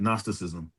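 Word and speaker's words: Gnosticism: Nosticism. Now I can't say I know the word, but now it's nastism. The G is silent. Nosticism.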